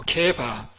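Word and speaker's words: 게바: 이 발음을 잘해야 됩니다. 개발이 아니고 개바.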